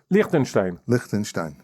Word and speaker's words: Lichtenstein: It's pronounced Lichtenstein? Lichtenstein.